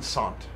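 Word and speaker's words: Saunt: Von Sant. S-A-U-N-T or S-A-N-T. Okay, so it's just pronounced like that.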